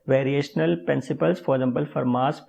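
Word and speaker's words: Fermat: For example फरमास principal एक variational principal है, टी यहाँ पे साइलेंट है, तो फरमास प्रिंसिपल यहाँ पे एक वेरिएशनल प्रिंसिपल है।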